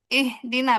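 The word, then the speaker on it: اهدنا: Nah, di sini dibacanya yang ihdina kan lihat lihat harokat tiga huruf setelahnya gitu ya. Berarti ihdina bacanya.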